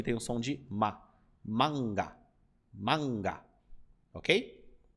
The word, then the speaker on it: manga: que é o seguinte sempre que nós temos esse a com um n depois nós tendemos a nalar ele e falar Ã né ó manga manga só que no japonês você precisa trabalhar para o a não deixar de ter o som de A então você vai pronunciar manga manga eu sei que é